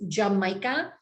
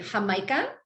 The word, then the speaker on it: jamaica: If you spell it phonetically, it's Jamaica, but you say Jamaica, and it's.